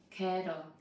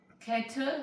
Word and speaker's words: kettle: Kettle. Kettle spelled k e t t l e, but don't pronounce it kettle.